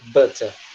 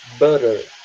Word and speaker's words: butter: Que pega o T e transforma em R. Por exemplo, a palavra manteiga, que a gente tinha falado no capítulo passado, que eu tava pronunciando butter, tá? Butter.